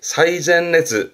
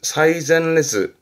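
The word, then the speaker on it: 最前列: 맨 앞줄을 말할 때 최전열 쓰는데 발음이 사이젠레즈. 사이젠레즈.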